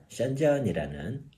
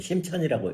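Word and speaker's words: 深圳: 예, 중국의 5번째 집갈시가 어디가 될 것이냐, 이 주제를 가지고선 드디어 이제 여섯 번째 이야기로서 중국 남쪽에 있는 션전이라는 우리식으로 읽으면 심천이라고 읽더라고요. 심수라고 안 읽고, 예, 그 션전이라는 이 도시에 대해서 한번 저희가 한번 같이 살펴보도록 하겠습니다.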